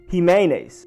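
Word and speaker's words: Ximines: A lot of other languages pronounce it with Jimenez, but I'm going to go with the Zimenez, and he never corrected the people that said Zimenez.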